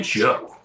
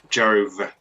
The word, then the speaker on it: Jove: You just call me Joe. Jove. Oh, V. okay, you need to pronounce the V bit at the end.